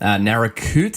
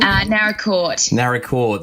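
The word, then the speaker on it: Naracoorte: Narracoote, is that the right pronunciation? Narracourt, sorry.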